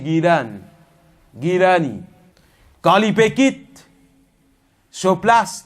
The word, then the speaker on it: Jilani: Jilani, sa vraie prononciation c'est Gilani.